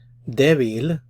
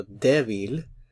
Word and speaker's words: débil: Débil, notice the stress is on the first syllable, so débil, débil.